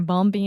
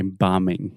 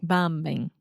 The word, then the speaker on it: bombing: of places yeah they're bumpy and bumpy and people are dying and no one talks about it okay bombing bombing okay the B is silent so so just imagine